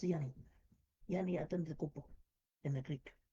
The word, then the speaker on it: Giannis: It's pronounced Yanni.